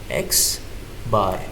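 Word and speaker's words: x̄: इसको कैसे रीड करोगे? x बार ऐसे प्रोनाउंस करोगे एक साथ।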